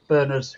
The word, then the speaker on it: Bernard: You' got to remember when us Singlish see the word Bernard we pronounce it Bernard not I had a